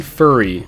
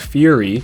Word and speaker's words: Furi: Number 9, Furi. It's probably pronounced Fury, but Ravio from A Link Between Worlds gives you motivational slam poetry between each boss fight.